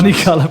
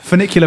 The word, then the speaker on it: Funicular: You always say it Funny wrong. Colour Productions. Funny Colour Productions. Gonna love that. Funicular Productions. Go on.